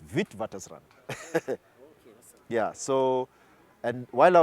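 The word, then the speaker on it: Witwatersrand: it it reads with wat Rand but it's pronounced vit wat Rand yeah so and while I was there the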